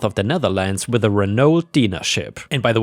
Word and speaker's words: Renault: the Netherlands with a Renault Dina ship and by the way I think in Europe we would pronounce it Renault which is the French way but I suppose in